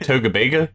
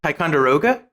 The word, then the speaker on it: Ticonderoga: wisconsin by frederick how do you say it togavega ticonderoga ticonderoga those are a very different word yeah